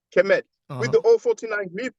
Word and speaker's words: Kemet: So indeed, to answer your question, when you have the I6 glyph, the loaf of bread, that's phonetically pronounced, sorry, kemet.